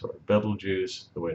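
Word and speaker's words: Betelgeuse: serus that's a really really cool star called Beetle Juice or Bal juice the way it's real pronounced but we call it Beetle juu and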